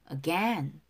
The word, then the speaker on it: again: 어로 시작되는 단어는 대부분은 액센트가 바로 뒤에 있어요. 그래서 again. Again, again 아니에요. Again, 연음이 돼서 shine again, shine again.